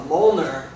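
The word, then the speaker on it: Mjollnir: is uh called a Moler and uh it's spelled very weird it doesn't uh it's not phonetic it's m j o l l n i r and it's uh it's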